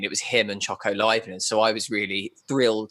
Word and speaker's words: Leibniz: right, and Leibniz, I'm so glad you said Leibniz, because I have never known how to pronounce that biscuit.